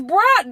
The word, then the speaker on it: bruh: No, it's bruh.